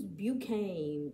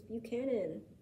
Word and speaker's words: Buchanan: Next up on this list is James Buchane. Wow. Oh, I remember this guy. You do? How do you spell it? Right here. Buchanan. It's Buchanan.